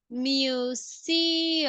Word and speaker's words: museum: you got issues yesterday during the presentation is Museum um Museum that is a pronunciation okay it's a little bit weird so